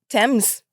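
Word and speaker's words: Tems: Thames.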